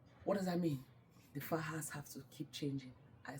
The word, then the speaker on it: faja: A faja is written F-A-J-A, that's the right pronunciation. No, faja, faja.